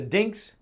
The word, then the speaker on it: DiNGK: First, I got to talk about the name DiNGK. If you look up DiNGK in the dictionary, it is phonetically spelled DINGKS.